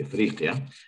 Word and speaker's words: Afriqiya: Would you use the Arabic pronunciation when speaking English or not? That kind of code switching I always mess up with, so forgive me, Afriqiya.